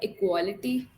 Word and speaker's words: equality: Okay, so like how do you pronounce the word equality? Yeah, that It's is equality, equality, I right? say. Hmm. Sorry? Equality. Equality. We have to pay emphasis on that A vowel.